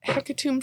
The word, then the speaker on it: hecatomb: might need to let a heck you might need a tomb like a tomb you might not it's a silent b oh you may need to let hecatomb suckle on you